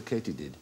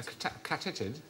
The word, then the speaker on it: katydid: Why might they be called a katydid? A catitid? No, it is actually pronounced katydid.